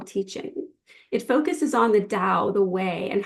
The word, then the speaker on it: Tao: It focuses on the Tao, the way, and how individuals can live in harmony with it. It's composed of 2 parts. Tao, pronounced Dao, means a road and is often translated as the way.